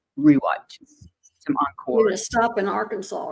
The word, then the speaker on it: Arkansas: years maybe even 20 we don't say Arkansas it's AR Kanas AR Kansas AR Kansas I said Arkansas that's not how you say it I'm going huh I said okay I don't know how I've never heard anybody call it AR Kanas before it's AR Kansas River yes it's the AR